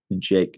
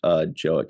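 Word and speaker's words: Jaeck: It looks like Scott's last name is Jayek. Jake, not Joek.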